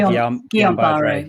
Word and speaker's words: Guillain-Barré: I always say Guillain-Barré.